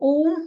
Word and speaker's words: ओम: इसका बीज मंत्र, लेकिन इसको अलग तरीके से उच्चारण करते हैं। इसके उच्चारण का तरीका है आ, जब आप बाद में माँ बोलते हैं तो माँ को होंठ बंद करके ही बोलना है। हाँ, मुंह खोल के, ऊ, होठों को गोला गोल करके, और माँ